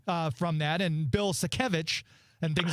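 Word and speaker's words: Sienkiewicz: a while I used to pronounce it Switz no wait a minute it's sevich so we got it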